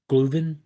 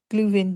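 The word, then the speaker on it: Glühwein: Gluven. Gluven. Yeah, because the W would be pronounced like a V.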